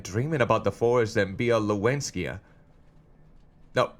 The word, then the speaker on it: Białowieża: Białowieża.